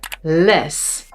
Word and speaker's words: les: This is man a short and maan long a or vis short i and vies ee long ee or les a short e and lees a short a.